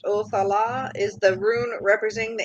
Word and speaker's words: Othala: And then Othila, pronounced Othala, is the rune representing the ancient lands.